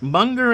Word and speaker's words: Munger: snyder at the plate monger as in hunger i did get it